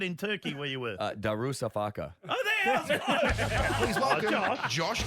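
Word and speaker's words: Darüşşafaka: Darusafaka.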